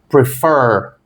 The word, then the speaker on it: prefer: Prefer tem duas sílabas. Qual que é a última? Fur. Termina em consoante, vogal, consoante? Sim. Termina com a sílaba tônica? Também. Ó, prefer. A tônica está ali na última.